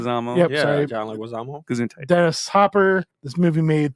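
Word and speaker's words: Leguizamo: John Lu Gizyama. I can never say his name. Plays Luigi. Leguisamo.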